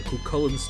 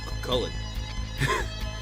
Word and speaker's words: Cuchulain: Something about a key in Cuchulain's tomb. Yeah, you probably didn't know I knew how to pronounce that, huh? That's how it is. Cuchulain.